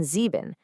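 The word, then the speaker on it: sieben: Ei is pronounced I like in but IE is pronounced E as in zeben.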